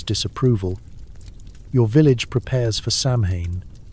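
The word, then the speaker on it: Samhain: your village prepares for Samhane. That's pronounced sew in as in your sew in over your head with these spirits buddy.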